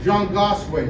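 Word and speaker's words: zhaangaswi: I was taught to pronounce that Zhongwaswe, like 3 syllables.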